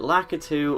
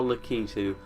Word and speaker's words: Lakitu: solo lucky tool yeah the pronunciation of lacquer 2 everyone either does it like a two or la ketu to me lakitu sounds more correct but i'll often say like a two out of habit because that's what i said when i was younger and if there is